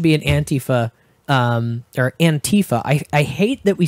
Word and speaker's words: antifa: what there should be an anti feh there antifa I I hate that we settled on that pronunciation han Tifa an tyfa there should be an app that's just like